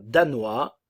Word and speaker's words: danois: ne s'entend pas danois attention le O et le i le son le S ne se prononce pas danois danoise le E ne